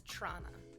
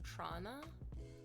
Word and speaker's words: Toronto: You definitely do not pronounce the second T.